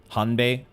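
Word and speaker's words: Hanbei: matab matab like so like hbe hanbee is our friend in the U dilapidated Temple the the Bei spelling has a has a b pronunciation to it okay last time on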